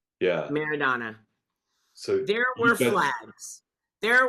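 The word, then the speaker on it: Maradona: walls how how do you say his name merido meridana yeah meridana so there were Flags there were photos yeah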